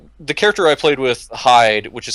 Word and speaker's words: Hyde: And yes, it is pronounced Hyde. It is not Hide or anything like that because the game, thankfully,